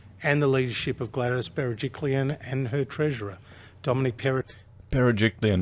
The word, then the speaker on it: Berejiklian: Well, actually, I want to praise New South Wales and the leadership of Gladys Berejiklian and her treasurer, Dominic Berejiklian, that's how you say her name. Bloody hell, all these articles. Berejiklian.